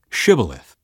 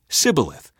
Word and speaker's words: Shibboleth: tell him to say Shibboleth if he was from ephraim he would say Sibyl a--the because people from Ephraim cannot pronounce the word correctly then they would take